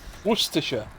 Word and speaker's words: Worcestershire: one source that no American can actually pronounce Worcestershire that's the one that's not how you say it uh how do you pronounce it Worcestershire nope how do you pronounce it Worcestershire Worcestershire Worcestershire Worcestershire that's it Worcestershire but see I'm a dumb American and what